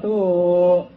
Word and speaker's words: 土: 方国度，这个土本来啊是个土字，但是啊在佛经读成一个度字，这个度